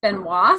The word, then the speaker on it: Benoit: was spelt t' but obviously in French it's pronounced Benoit so I called and